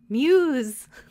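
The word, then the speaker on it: μ's: So it's the Greek character Mew with an apostrophe S. But they pronounce it Muse.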